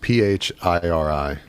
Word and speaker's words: Phiri: So it's pronounced Phiri.